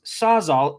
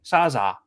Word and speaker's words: Sawzall: But they always pronounce sawzall. They say sawzaw.